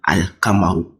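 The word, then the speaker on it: القمر: So here, the lam is pronounced. So that's what I was explaining. You can see here, Ashamsu. Just take Ashamsu and then Al-Kamaru. So you can see the lam. There's a school on the lam. So the lam is head. If I'm pronouncing it, Al. You can hear the lam here.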